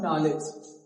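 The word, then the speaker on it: knowledge: जैसे एक और एग्जांपल लिखा नॉलेज। इसे क्या कना नहीं बोलना है। क्या बोलना है? नॉलेज। क्या? नॉलेज।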